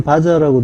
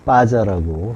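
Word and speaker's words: בָּזָה: 이게 사전에는 바자라고 되어 있죠. 가운데 점이 있어요. 맨 오른쪽 글자에 점이 있으면은 두 개가 겹쳐 있다라는 의미예요. 그래서 강하게 발음해서 빠자라고 한 거고요.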